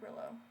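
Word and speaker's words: Grillo: Those movies repeat because it had Frank Burllo. That's how you pronounce his name.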